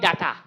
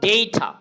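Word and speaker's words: data: কি হবে বলো এডজেক্টিভ আমরা বলি ডাটা ঢাকা ডেটা এটা কি হবে ডেটা আমরা বলি ক্যামেরা ক্যামেরা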